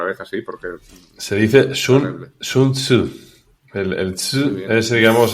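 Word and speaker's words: Sun Tzu: la guerra otra vez así porque se dice sun sunsu.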